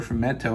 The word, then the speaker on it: fumetto: And one of the great fumetti or fumetta or fumetto, I think is actually how you say it, companies of Italy is this company called Sergio Bonelli Editore, right?